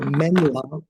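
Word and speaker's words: སྨན་བླ: generally means medicine and La is not the same La as in deity like daa but it's it's the second syllable of the of or the first syllable of the word llama so it's a it's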